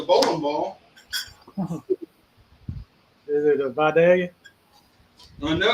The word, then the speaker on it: Vidalia: And that is the proper pronunciation, Vidalia.